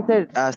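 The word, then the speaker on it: 七: Seven, seven এটা তো first tone, এটা হবে সি, সি এরকম। সি। হ্যাঁ আমরা বাংলায় অনেক সময় বলি না যে ছি ছি, তো এই যে স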